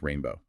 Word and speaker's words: R41NB0W: She is the viola player for R41 NB0W spelled R41 NB0W pronounced Rainbow.